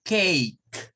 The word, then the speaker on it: cake: La E no suena, lo que suena es la K, pero lo vamos a leer con el sonido E. O sea, esto si lo viésemos en términos de la pronunciación, es como cake. Es curiosa porque aquí la C suena como una K.